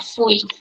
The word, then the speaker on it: fui: Fui. That's how you pronounce it.